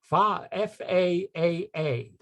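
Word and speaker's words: Faa'a: The only thing is you have to pronounce them. So the name of this place is Fa-A-A.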